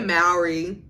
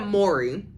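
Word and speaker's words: Mowry: good even Devon Franklin Tia Mari or is it Mory I think I've been pronouncing their last name wrong for many many years Tia Mory they just and you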